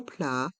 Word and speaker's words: plat: principal le plat principal dans le mot plat le T est mué plat principal il faut